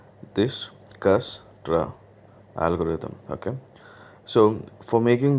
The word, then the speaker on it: Dijkstra: we saw importance discussed algorithm and remember do pronounce it right this gas draw algorithm okay so for making this algorithm we'll